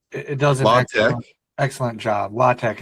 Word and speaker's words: LaTeX: LaTeX. It's spelled like latex, like rubber.